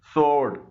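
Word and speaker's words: sword: इसमें डब्लू खामोश है सोर्ड इसमें भी डब्लू खामोश है और ओ की साउंड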